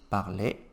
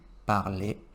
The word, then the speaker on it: parlais: A pronúncia do je, tu, il e il, no plural, é igual. Eric, o que vai distinguir? O sujeito e o contexto. Tá? Então, cuidado. Je parlais, tu parlais, il, elle, on parlait,